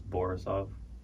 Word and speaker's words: Borisov: It's Borisov. Borisov? Or Borisov. It's the only thing that rhymes with my first name, Borisov.